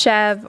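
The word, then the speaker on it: chèvre: little bit of this chev culture or I've heard it pronounced chev or chevra. I think it's chev. It's a French name for goat cheese.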